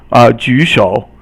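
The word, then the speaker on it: 举手: So 举三声, and then 手 is 三声. Both 三声 is third tone, so they're both third tone.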